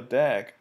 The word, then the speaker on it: DAG: acyclic graph or a dag for short the term dag is typically pronounced as a word not spelled out as an acronym in the figure we